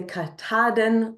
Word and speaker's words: Katahdin: Oh, Kataden MK Maine Knitter, Jen, is saying that it's a mountain in Maine, and you say Kataden, the last syllable is more like the den.